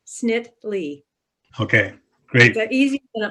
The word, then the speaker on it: Snitily: last name for us it has two syllables the second eye is silent snit lee okay great the easier